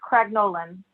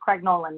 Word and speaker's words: Craig Nolan: what that's the confusion it wasn't any like an anya sound so it's craig nolan now so you pronounce it like it's spelled as they say okay um thank you